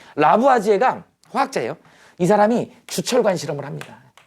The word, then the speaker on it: 라부아지에: 할 거예요 네 아까 라부아지인가 이게 맞냐 라부아지에요 발음이 이상한데 라부아지에가 화학자예요이 사람이 주철관 실험을